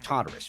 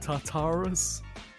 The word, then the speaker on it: Tartarus: Tartarus? Tartarus. Oh, Tartarus. Sounds like TARDIS.